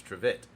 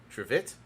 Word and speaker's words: trivet: I mean, it's spelled correctly, but it's pronounced like the pronunciation is TRITIT. Sorry, so it's Trivet. Trivet.